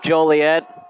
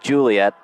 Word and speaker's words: Joliet: for the longest time i accidentally pronounced it juliet that was a big no-no it's always oregon never or god it's always joliet never juliet second down and log for